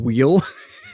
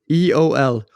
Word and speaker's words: wheel: Wheel? Wheel. Wheel. It just means wheel. You're just like pronouncing the H heavy, right? HWEOL. Wheel. Oh, the H is before the W. I did not see that coming.